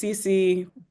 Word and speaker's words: Sissi: to school and so my name is pronounced CeCe but when my parents